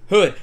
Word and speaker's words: Houde: Her name is Amy Hood. Hood. It doesn't look like it sounds, but that's how it is.